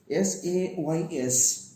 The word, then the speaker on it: says: Now, S-A-Y-S, says. Says. See, the first S is pronounced as sa, the second S is pronounced as za. So, the word is says.